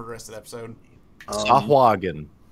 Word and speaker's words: Sahuagin: Sahuagin is the official pronunciation from the 1985 comic release Dragon. I call him Shoggin, so I'm very wrong.